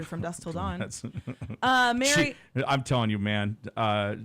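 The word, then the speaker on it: Mare: I spelled it the correct way so because it's spelled M A R E. Oh, it looks like Mar. Yeah. Mary.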